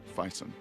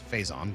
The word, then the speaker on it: Faison: Donald Fison. Oh, well, he's uh he plays Rev. That's not how you say it. It's Faison, but okay.